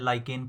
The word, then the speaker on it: lichen: कौन सा पौधा? लाइकेन या लिचेन। याद रखना, ये LICHEN इसका स्पेलिंग होगा। तो आपको लाइकेन भी मिलेगा, ये लिचेन भी मिलेगा। इसमें कंफ्यूज होने की कोई ज़रूरत नहीं है।